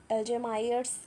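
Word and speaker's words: Alzheimer's: ठीक है, तो अल्जेमायर्स बोलते हैं इसको, अल्जेमर्स। ठीक है, प्रोनाउंसिएशन आप सही कर लीजिएगा।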